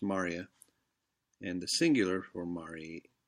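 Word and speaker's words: maria: full of craters and Marya spell Moorea but pronounced Marya and the singular form re humor is Mari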